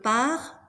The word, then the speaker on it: pars: Je pars, tu pars, il, elle part. S, S, T are mute. You do not pronounce them.